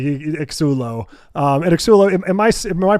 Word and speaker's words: Xsullo: It is, yeah, Xsullo. I think you pronounced it right.